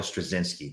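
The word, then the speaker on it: Straczynski: George Perez obviously and his name is J Michael strasinski that's how you pronounce it away I like the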